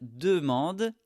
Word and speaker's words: demande: demander demander elle alors ici c'est du pluriel encore une fois elle demande des informations au professeur elle demande des informations au professeur ici demande on ne prononce pas la terminaison d'accord c'est mué elle